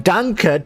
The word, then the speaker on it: danke: hear it thank you it just sounds like dank like dunk like dank with an accent we should be saying danke to mohoyo for giving